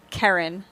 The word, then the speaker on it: Kerryn: Karen.